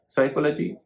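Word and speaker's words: psychology: आज की क्लास का सबक एक वाक्य में एन, एस और टी से पहले पी साइलेंट हो जाता है। उदाहरण निमोनिया जिसमें कि पी एन से पहले है। साइकोलॉजी जिसमें कि टी एस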